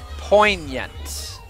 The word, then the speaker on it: poignant: think that's widely known poignant okay the g is silent I